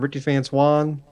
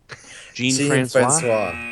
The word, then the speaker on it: Jean Francois: Chris, help me pronounce this guy's name. Ricky Francois? Jean Francois.